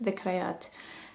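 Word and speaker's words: ذكريات: Zukreet means, it's actually pronounced in Arabic, it's pronounced dhikrayat.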